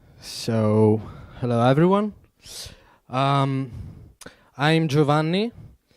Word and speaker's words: Giovanni: Um, I'm Giovanni. It's pronounced Joe, okay? Because usually English people say is Giovanni, but okay.